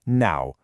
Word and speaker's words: 撓: And finally the last character is now pronounced now.